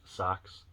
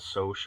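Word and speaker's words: Socs: At least that's how I pronounce. Man, is that right? Socks. It's not Soch, I don't think, because this is how I abbreviate Soch, like Social Security number, SOC. I believe it's sock, like foot sock, and then greaser,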